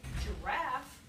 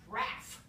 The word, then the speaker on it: giraffe: to delete them so in a word like giraffe giraffe where the second syllable is stressed and the first syllable is not stressed kids are much more likely to just delete the first syllable and they don't say giraffe they say graph because why say j